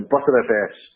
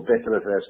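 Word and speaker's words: Btrfs: We're seeing huge advances in terms of high performance and clustered file systems, like ButterFS, or BetterFS, depending on how you pronounce it, Ceph, GloucesterFS, and more.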